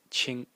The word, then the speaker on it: 青: the series which are led by the character pronounced Ching in the first tone and the character means